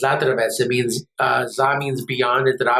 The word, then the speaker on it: Zadravec: It's actually pronounced Zadravec.